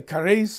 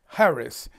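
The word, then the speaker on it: χάρις: um it looks like cheris c-h-a-r-i-s but it's pronounced without the the hard c it's it's harris and most people say carrice or caris it's harris and all the research i can do on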